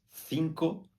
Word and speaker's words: cinco: em português em espanhol na Espanha se pronuncia A C com a língua entre os dentes cinco Cuidando com a última